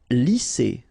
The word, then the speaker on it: lisser: Lisser. Same thing here. Double S, S.